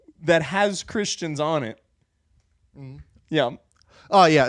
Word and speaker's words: Ye: Oh, it's Ye. It's spelled Yee. It's spelled Ye, but I don't think he has any Asian in him, so it's Ye.